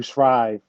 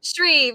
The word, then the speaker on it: Shreve: his name is Andrew Shrive. I know I always say his last name wrong. Shreve or Shrive. You know Andrew? Shreve, yes, Andrew Shreve.